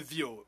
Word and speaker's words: Viau: Sorry, my name is Mr. Vio, just to correct your pronunciation.